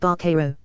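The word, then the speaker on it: vaquero: today related real fact the term buckaroo is an ugly size rto pronounced very roughly like barcaro it literally means cowboy in spanish and huskaw which is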